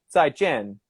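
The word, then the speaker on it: 再见: for goodbye would be 再见, and it always has to be It's like very short. 再见. Yeah, it Yeah. has to be down, down.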